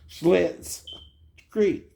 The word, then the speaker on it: Schitt's Creek: You ever heard of Schlitz malt liquor? Schlitz malt liquor. Schlitz Creek.